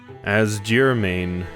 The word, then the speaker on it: Asgirmain: Asgirmain, it's pronounced. Kyoran name, person's name.